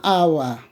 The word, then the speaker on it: hour: Therefore, you can see an hour, okay? An honored deed, okay? Therefore, not a hour, but an hour. We have been waiting for an hour. H is silent. We begin with A sound, therefore, hour, an hour.